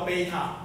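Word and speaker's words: β: 这个念作贝塔，很好。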